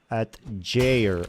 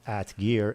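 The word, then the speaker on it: atgeir: No, it's G-E-I-R. Don't think in English. Well, I can't think in Norwegian. At Jair. So it's not at gear, it's at Jair. At Jair?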